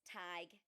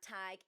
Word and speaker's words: Tadhg: And I hope I pronounce this correctly as it is an Irish name. Uh but I think it's tag heck.